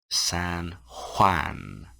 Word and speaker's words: San Juan: He lives in San Juan. San Juan. More of a H sound than a J sound. San Juan?